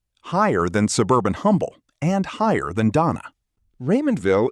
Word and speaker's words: Humble: Humble is named for Pleasant Smith Humble and the museum's own account says the silent H follows the way he spoke his name.